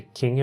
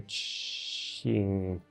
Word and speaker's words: Qing: I was saying, like for example, in this the Qing Empire. And I always pronounced it the King Empire for some reason. So yeah, the Q is something Qing.